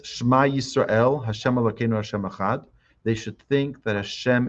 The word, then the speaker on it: echad: One should be cautious not to distort the word echad. Sometimes people, in their intention to pronounce it properly, say the wrong word. They'll say echad, or they'll say echad. Be careful to just say echad.